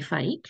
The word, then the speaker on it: Fike: a keen naturalist Jenny Fike her last name rhymes with heike and Jenny that's an